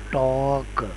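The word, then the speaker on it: talk: यह बनेगा टी ऑक और अगर मिला के पढ़े तो बनेगा टॉक टॉक एल इसमें साइलेंट है जबकि इसमें ओ यूजी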